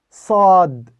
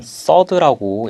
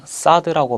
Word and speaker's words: صاد: صاد, صاد, 네, 다음은 서드입니다. 이 자음은 서드라고 읽고요. 이 서드라는 발음은 좀 다소 어려운 발음인데요. 그냥 사드라고 발음하는 것이 아니라 혀를 밑으로 살짝 내려서 입안의 공간을 이렇게 만들어줍니다.